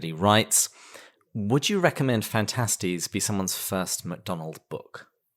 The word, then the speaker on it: Phantastes: different versions yeah um there are multiple different ways to pronounce fantastics but the majority of mcdonald's scholars do pronounce it fantastics yeah but you should